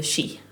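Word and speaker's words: sídh: Um so we call them the she. So it's spelled s i d h.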